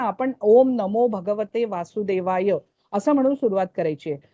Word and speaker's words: वासुदेवाय: म्हणून ओम नमो भगवते वासुदेवाय आता यला थांबायच य असं नाही करायच य केला तो दीर्घ झाला या नाहीये तो य आहे मग तो य ला एकच मात्रा य थांबायच अशा रीतीने उच्चारण आहे